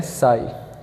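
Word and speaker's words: psi: है इससे बोलते हैं या लिखता हूं पीएसआई स्पेलिंग इसके पीछे साइज है लेकिन इसको पड़ते हैं साइज ठीक है तो इसको ग्रीक में यह इस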